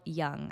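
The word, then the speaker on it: Jung: he he is called his name is Carl Young I think I'm pronouncing that right it's j u n g Carl Young and he was basically like one of the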